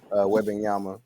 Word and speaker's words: Wembanyama: Granted, everybody, we talking about the upcoming draft class with Victor Wembanyama. I want to say that's how you pronounce his name.